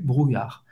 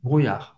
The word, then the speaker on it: brouillard: Você vai pronunciar o R e não pronunciar o D no final.